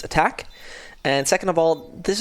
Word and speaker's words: ATK: ATK, first of all, actually pronounced attack.